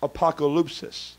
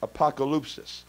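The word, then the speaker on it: ἀποκάλυψις: that word revelation is the Greek word it's pronounced apocalypsis apocalypsis you've heard of the word apocalypse before right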